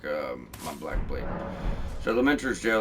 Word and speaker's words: Lamenter's: So going on down Lamenters, that's how you say it, Lamenters jail.